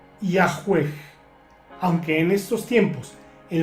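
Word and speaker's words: Yahweh: Los eruditos modernos conjeturan que originalmente se pronunciaba Yahweeg, aunque en estos tiempos, en las traducciones modernas de la Biblia, por ejemplo, se escribe Yahvé.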